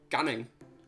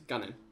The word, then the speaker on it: gannin: but i was like gunning let's get gunning the word is ganning but people don't pronounce lost g it's gannon i don't think gannon came